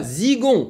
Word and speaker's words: Zigon: Ah, zigon. Ok, on prononce ça à la française.